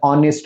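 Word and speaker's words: honest: असेल त्याच्या समोर वापरायचा नेस्ट नाही म्हणत ऑनेस्ट म्हणतो ओके म्हणून ही ऑनेस्ट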